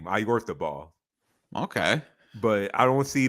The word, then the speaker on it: Oyarzabal: So I'm not even sure if this is the correct pronunciation either. I'm just Oh, going off. jeez. I'm just going off what commentary how commentary says his name. It's Mikel Oyarzabal. That's how commentary says his name, Oyarzabal.